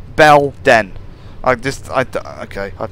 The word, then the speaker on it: Belen: It's B E L Den. Belen.